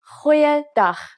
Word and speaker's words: Goeiedag: Try pronouncing it from the back of your throat. Goeiedag.